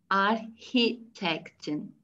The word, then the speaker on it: Architektin: Architektin, C-H'yi H şeklinde.